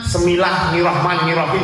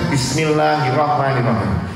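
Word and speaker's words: بسم الله الرحمن الرحيم: Semilah Nirahman Nirahim. Harusnya Bismillahirrahmanirrahim. Karena beliau mendengarkannya dari wali yang lewat itu Bismillahirrahmanirrahim.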